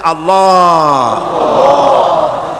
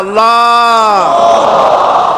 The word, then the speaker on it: আল্লাহ: আল্লাহ পাকের উচ্চারণটা হচ্ছে, আল্লাহ পাকের নামের উচ্চারণ হচ্ছে আল্লাহ। মুখটা একটু গোল হয়ে যাবে, বলেন আল্লাহ আল্লাহ সুবহানাল্লাহ।